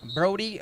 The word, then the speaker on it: Brody: When your name, Brody, rhymes with Cody, you know that you are goated.